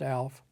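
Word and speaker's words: Aleph: is Alf a l e p is is pronounced Alf and I'll mention something here in a minute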